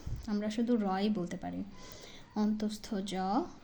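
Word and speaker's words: অন্তঃস্থ য: বর্গগুলো শেষ এবার আছে অন্তস্থ জ অনেকেই অন্তেস্থ জ অন্তে জ কি কি যেন বলে থাকে কিন্তু না এটার শুদ্ধ উচ্চারণ অন্তস্থ জ এখানে লিখাও আছে এই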